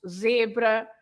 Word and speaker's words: zebra: But of course, you pronounce the Z as a normal Z if it's at the beginning or in the middle of the word, like zangado, angry, zangado, or of course zebra, or in the middle